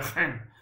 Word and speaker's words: geen: Si deve pronunciare geen.